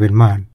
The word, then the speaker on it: บ้าน: อักษร ไทย รื้อ ใหม่ คำ ว่า บ้าน ไทย ลือ ก็ ออก เสียง เป็น ม่าน ที่ หลัง สวน ม่าน